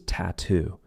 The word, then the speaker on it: tattoo: Another word that I love for practicing the true T is tattoo. We have two true T sounds, TT and then two.